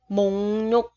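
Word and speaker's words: 목록: Chữ kiok, chữ cờ, theo sau nó là phụ âm r, tức là cờ gặp r. Thì ở đây cái chữ cờ mình sẽ đọc là ng, và chữ r thì mình sẽ đọc là n. Chỗ đây mình sẽ đọc là ng, đây là n, mình thành mùng nhục, mùng nhục.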